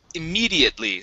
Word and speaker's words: immediately: this word here is pronounced immediately so our stress is right here instead of immediately it's immediately immediately one more time immediately immediately there you go that's much better uh let's go to